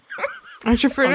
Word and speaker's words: entrepreneur: It does kind of end in like a nerr. Entrepreneur.